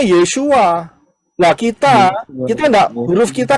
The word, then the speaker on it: Yeshua: Yod syin wau Ayin aksara-aksara ini pengucapan di dalam bahasa Indonesia adalah tertulis yesua betul ya benar karena orang Israel ngomongnya yesua lah kita kita huruf